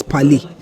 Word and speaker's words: parler: That's parler. Now that verb parler is spelled P-A-R-L-E-R.